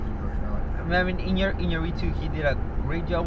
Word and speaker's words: Iñárritu: Iñárritu for The Revenant. You had to say it like that. Yeah, that's how you pronounce Hispanic name.